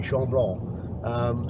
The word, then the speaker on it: Chamblon: That's how you pronounce it, camping Chamblon.